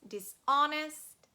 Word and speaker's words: dishonest: and as you remember h can be silent dishonest dishonour and the next diagraph